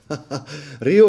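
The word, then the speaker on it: rehaut: vengono prodotti attualmente hanno lo schermo che rio rio scritto r i o t rio rio sarebbe la parte esterna del quadrante Ma si scrive r e h a u t hai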